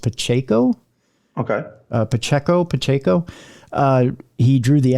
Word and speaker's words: Pacheco: I believe it's pronounced Pacheco.